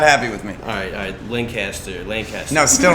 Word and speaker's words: Lancaster: Lancaster. Don't get mad at you if you pronounce it wrong. Lancaster.